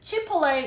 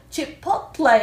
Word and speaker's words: Chipotle: Chipotle 이렇게 발음하는 사람도 있고 Chipotle 약간 T를 살짝 넣어서 발음하는 사람도 있더라고요. 두 경우가 다 있어서 제가 두 경우로 다 이렇게 발음을 좀 해봤습니다.